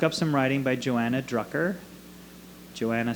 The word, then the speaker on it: Drucker: So look up some writing by Joanna Drucker. Joanna spelled Joanna, and Drucker spelled like trucker, but with a D.